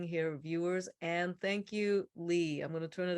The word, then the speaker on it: Ley: So my name is Lee. I'm Dr. Ley. A lot of people call me Ley, but that's incorrect. I just spell my name wrong.